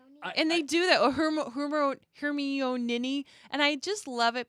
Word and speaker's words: Hermione: he still can't say her name yeah hermeone and they do that hermione and i just love it because this is